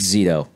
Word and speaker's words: Zito: How do you pronounce it? Palomo. Palomo and Zito. It was a pleasure. Just Zito.